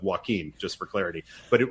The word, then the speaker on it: Joaquin: came to us with the name joe quinn which is i believe a mispronunciation of joaquin just for clarity but